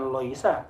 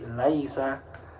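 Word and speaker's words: ليس: kolom UNMA boleh qolamun atau Laisa Bukan lho iso loisa bukan bukan loisa tapi Laisa yah anak kalian itulah bab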